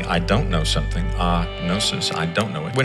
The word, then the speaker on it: gnosis: case may be prognosis except the g is silent so it's gnosis pro no it's a